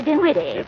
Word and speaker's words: Dinwiddie: Henrietta Dinwiddie. With an N, not an M, and the accent on the widdy, not on the din.